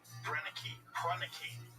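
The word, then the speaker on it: Proenneke: Prunicky. That's how you say his name.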